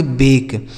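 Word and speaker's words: bake: किसी भी शब्द के लास्ट में अगर इ लिखा हो तो उसका उच्चारण हम नहीं करते हैं। ठीक है? जैसे बी ए के ई इसे पढ़ेंगे बेक।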